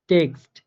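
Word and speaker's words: Text: এরপরে টেক্সট টেক্সট, হ্যাঁ মানে এক্স এক্স এর মতো করে উচ্চারিত হইতেছে।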